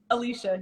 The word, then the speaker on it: Elisha: Alicia, am I pronouncing your name right? Alicia, yes.